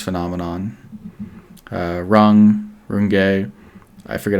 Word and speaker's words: Runge: And then I wanted to finish off with something called Runge's phenomenon. Runge, I forget how to pronounce it.